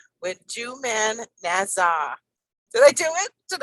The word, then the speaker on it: Joumana Nasr: don't you say your name so that the listeners can actually get the correct pronunciation? So I am I am Joumana Nasr.